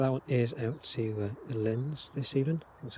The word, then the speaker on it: Linz: Looks like that one is out to Linz this evening. That's how you pronounce it.